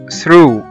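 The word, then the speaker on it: through: وزي ما احنا شايفين قدامنا ان الجي جه بعد منها الاتش فبقوا الاثنين سايلنت وما نطقناهمش.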